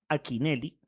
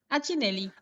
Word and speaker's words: Achinelli: Achinelli. Ah, con CH, Achinelli.